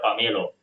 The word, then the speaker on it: pumelo: (pronounced 'pammelo'), 'pommelo', and 'pumelo' (pronounced 'pamelo'), because in the Javanese language, there are almost no double letters in words or sentences.